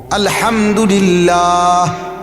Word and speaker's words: আলহামদুলিল্লাহ: আলহামদুলিল্লাহ, এটা আপনি পড়বেন, হা পুরো উচ্চারণ করতে হবে।